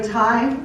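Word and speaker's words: Tygh: you my name is my name's Thai it's spelled t-y-g-h and I live on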